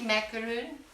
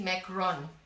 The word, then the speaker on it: macaron: Minty macaroon from Petite Rouge. It's actually called minty macaron.